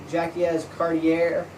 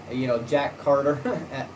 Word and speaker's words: Jacques Cartier: John Cabot claimed the mainland North America for the English, and Jacques Cartier, or Jack Carter in English pronunciation, journeyed up the St.